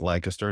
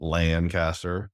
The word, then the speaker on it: Lancaster: One in Everett, Washington, Seattle, one in Lancaster, PA, pronounced Lancaster, not Lancaster for everybody out there, which isn't all Amish and horse crap.